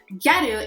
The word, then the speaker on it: gyaru: we will be discussing gyaru and ghetto culture in japan let's get right into it what are geru so garu is actually the japanese pronunciation of the english word girl this is a fashion